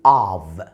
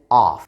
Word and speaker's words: of: بالنسبه للادجectives اللي بتيجي مع of، وبالمناسبه بنقول of. ال1 F بتتنطق V، لكن الدبل F هي اللي بتتقال of.